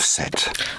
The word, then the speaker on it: Set: You have found and opened the tomb of Set. I always thought it was Seth.